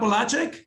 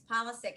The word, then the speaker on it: Polisic: Everybody pronounces my name wrong, but that's okay. So it's not Palachik? It's not Palachik. It's Polisic.